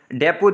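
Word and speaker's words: depot: English के अंदर, तो उनके अंदर लास्ट टी साइलेंट होता है। इसके साथ बुफे देख लें, डेपो देख लें, गोदाम को कहते हैं, या बुके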